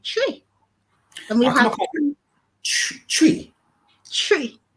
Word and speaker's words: Twi: Twi. Do you know it's what? Like 1, 2, 3. Like actually, yeah, that's the pronunciation.